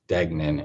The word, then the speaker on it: Degnan: the decedent's name was douglas degnan is how the family pronounces the name the evidentiary error we